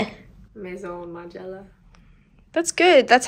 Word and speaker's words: Maison Margiela: My brain chemistry altered, so I've never said Mason ever since. So how do you say it? Maison Margiela.